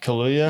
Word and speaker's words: Kaluuya: Kaluuya.